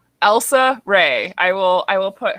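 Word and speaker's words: Rhae: ray and baron link so elsa ray like elsa and her last name is spelled r-h-a-e and they live in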